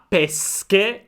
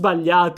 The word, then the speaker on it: pesche: The first thing we can learn is that it is very easy to confuse the word "pesche" with "pesce". Attention "sch" is pronounced: So with pesche we are talking about the fruit.